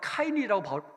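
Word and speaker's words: קין: 이 가인이라는 것을 원어로 하면 카인이라고 이 발음이 돼요.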